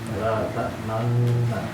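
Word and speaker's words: لا تأمنّا: Jadi cara bacanya di ayat tersebut atau di kata tersebut la ta'manna dengan cara ismam, yaitu menampakkan dhammah, ya, isyarat dhammah pada bibir, ya.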